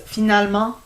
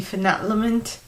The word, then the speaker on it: finalement: It's actually pronounced finalement, but the way you'd write it would be finalmente.